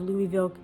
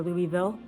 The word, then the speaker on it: Louisville: From Waverly Hills Sanatorium, located just outside of Louisville, Kentucky, or Louisville, depends how you want to pronounce it, to the Trans-Allegheny Lunatic Asylum located in West Virginia.